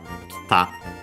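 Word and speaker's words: 来た: The e is barely heard if at all, and so that's why the accent moves also on the ta, kita.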